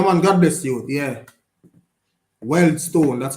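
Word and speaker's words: Wealdstone: Weldstone, that's how they're pronounced.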